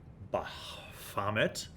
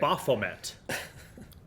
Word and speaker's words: Baphomet: So I have Baphomet. Not Bahamut. That's a very different thing. Baphomet. Baphomet. I will learn how to pronounce this.